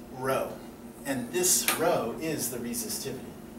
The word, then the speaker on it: rho: Greek letter row um it's spelled rho if you if you spell it out phonetically that's row and this row is